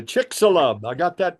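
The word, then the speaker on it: Chicxulub: right this is uh the um let's say chick salub I got that pronunciation down the blast that happened down at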